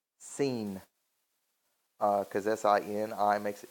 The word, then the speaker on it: Sin: Let's say we call forth mightily powerfully upon Nana, who is known as Sin, or actually in the way it's actually supposed to be pronounced, Seen.